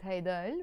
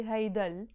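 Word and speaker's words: هيدا: the high plus L we don't pronounce it high dial we say hey doll but here she used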